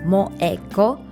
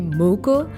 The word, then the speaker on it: Moeko: Okay, first, my name is Moeko. Pronunciation is like Moeko. A lot of times, especially when I'm in America or in Canada, a lot of times people call me Moko, but yes, it's very rare name in Japan.